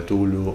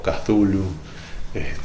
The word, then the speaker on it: Cthulhu: Lovecraft, que sería la llamada de Tulu o Cthulhu, depende de quién lo quiera pronunciar.